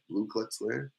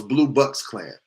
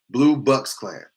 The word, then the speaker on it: Blue Bucks Klan: Blue Klux Klan? No, it's Blue Bucks Klan. I said it wrong. Blue Bucks Klan.